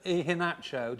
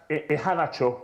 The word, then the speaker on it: Iheanacho: Have you heard of Iheanacho? Do you know how many goals he scored? Actually, his name is pronounced Iheanacho.